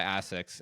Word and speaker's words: ASICS: He's actually sponsored by ASICS, and so cool. which also I pronounce that the British way. We call it ASICS. I would pronounce it ASICS as well. I always heard ASICS.